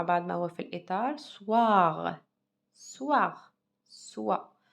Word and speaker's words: soir: Alors, mangez moins de gâteaux le soir. يعني كلي قليل من الحلويات في المساء. D'accord? إذا نقرأ مع بعض ما هو في الإطار. Soir. Soir. Soir. Le O avec le I, comment je le prononce? Wa.